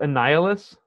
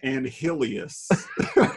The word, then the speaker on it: Annihilus: Isn't it pronounced Annihilus? I'm pretty sure. I always called him Anhilius, which is, there's not an extra I there.